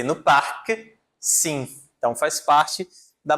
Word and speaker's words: parc: A letra C aqui, ela não é pronunciada, certo? Mas a letra C no parque, sim.